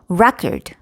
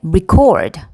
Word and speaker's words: record: 예를 들어서 record, record. 자, 같은 단어예요. 그런데 record 하면은 첫 번째 음절의 강세가 있어요. 그래서 이거는 기록이라는 명사가 됩니다. 그런데 record 자, 이거는 기록하다 동사가 되죠.